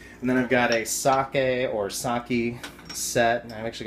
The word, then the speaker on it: sake: You know, it's technically pronounced sake in Japanese, but we call it sake in the U.S.